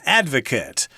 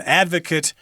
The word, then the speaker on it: advocate: an advocate advocates things so there's a slight difference in pronunciation there it's similar to the verb graduate and the person who actually graduates which is the verb is called the graduate sorry about that it's kind of tricky but yeah this particular word will look the same but be pronounced differently advocate verb advocate noun the person so moving on to